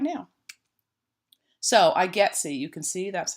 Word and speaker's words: IGETC: we're going to talk about right now so I getsy you can see that's how it's pronounced it's an acronym and it stands for